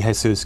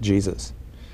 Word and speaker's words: Jesus: ever he's always everyone although it should be Jesus because that was in recognition of the Mexican half of his family um everyone always pronounced it Jesus you tell an early